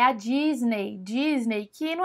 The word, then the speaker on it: Disney: aqui no Brasil mas o jeito certo é Disney Disney Disney é assim que você fala esse e y no final tem sonzinho de I Disney Disney bom outra marca